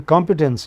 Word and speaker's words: competence: But at the moment just see the competence initial syllable is stressed as we said.